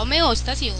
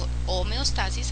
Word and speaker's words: homeostasis: el proceso de homeóstasis la homeóstasis homeostasis a veces se pronuncia de esa manera eh es el proceso